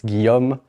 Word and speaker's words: Guillaume: pronounce this name uh it's called it's Guillaume but you can call me if you want it's a shorter version yeah the hell or